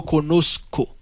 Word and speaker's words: conozco: Pas prononcer Z dans tant que Z en français, mais sinon c'est un couillon S. C'est yo conozco.